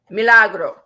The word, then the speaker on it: Milagro: yeah bro got the name what is it meal a bro I'll spell it for you am i l8 are a G ro hmm Milagro hey tell me I don't read okay but